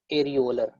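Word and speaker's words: areolar: Types of connective tissue, type of connective tissue, एरियोलर, एरियोलर और loose connective tissue, pronounce it एज एरियोलर।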